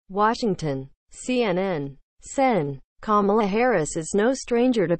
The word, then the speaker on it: Kamala: she posted a campaign video that showed kids explaining how to pronounce her first name correctly it's not camella it's not kumala it's not carmella the kid said in the video each incorrect